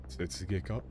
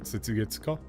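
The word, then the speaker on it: 雪月花: Setsugeka? Isn't it Setsugeka? Not Setsugetsuka? You do the dot after 1 rotation? Okay. It can be pronounced both ways.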